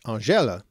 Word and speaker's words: angele: English around 1300 from Old French angele, with a soft G.